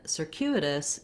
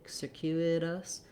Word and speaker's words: circuitous: I really actually should write this more as a D, because in circuitous we use that flap because the letter T is between two unstressed syllables, and it goes by quickly. We have our voice on, just like we do D's in the middle of words. So rather than circuitous, circuitous in American English.